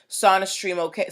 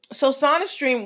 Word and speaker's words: SonaStream: So they're like, Sony's a long O, we're a short O.